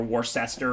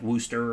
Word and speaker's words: Worcester: but it's really like it's spelt like like worcester or something or warcester but it's not pronounced that way it's pronounced like wooster or something like that okay so yeah this